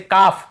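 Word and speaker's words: calf: जैसे काफ, काफ, काफ, हाफ, हाफ, काफ, हाफ, एल को यहाँ पे नहीं पढ़ना। काल्फ, हाल्फ नहीं पढ़ना है, काफ बछड़े को बोलते हैं, हाफ यानी आधा।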